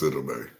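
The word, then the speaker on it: Sidibe: No, it's Sidabe.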